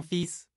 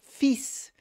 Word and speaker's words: fils: Lembrando que a palavra filho se pronuncia fils. Onde o L não se pronuncia, eu vou direto no S.